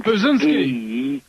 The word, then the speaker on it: Brzezinski: Well, he kind of looks like Burt Reynolds, and his name rhymes with Lewinsky. His name's Brzezinski.